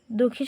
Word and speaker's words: দুঃখী: দুঃখী শব্দের প্রমিত উচ্চারণ হচ্ছে দুঃখী। বানানটা দেখো, দরস্য বিসর্গ ক্ষয় দীর্ঘি হচ্ছে দুঃখী। আর এখানে প্রমিত উচ্চারণ হচ্ছে দয়রস্য কয় হলন্তার ক্ষয়রস্যি দুঃখী।